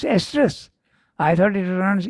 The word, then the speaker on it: estrus: one they I think word yes estrus it's pronounced estrus I thought it runs Easter okay so you see uh it has many